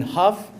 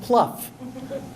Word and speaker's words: Hough: She took me on the bus, and when they did roll call, they mispronounced my name. Instead of Hough, they said Leon Pluff.